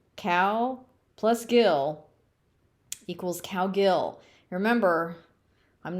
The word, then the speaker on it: Cowgill: Cowgill. You pronounce it exactly like you see it. Cow Gill.